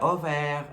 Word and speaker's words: Aubert: però no passa res, que és Aubert, que es pronuncia Auvert, en plan, me fa la broma de Auvert, no sé què.